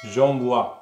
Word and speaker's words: j'envoie: j'envoie என்னென்று உச்சரிப்பியல் j'envoie. அப்போ இதில் பாருங்க ஓக்கு பக்கத்தில் ஈ வாரபடியால் நாங்கள் வா என்று உச்சரிப்போம்.